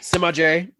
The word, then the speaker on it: Semajh: So Semajh. Semajh. Semajh. I can go on about how many ways my name has been mispronounced.